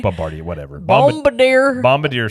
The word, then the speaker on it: Bombardier: And the issue you run into is the company is Bombardier that manufacture them. You said it wrong again. What is it? It's like Bombardier. Bombardier, whatever.